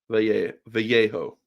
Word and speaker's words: Vallejo: Yeah, so it is the double L is the Y. Vallejo.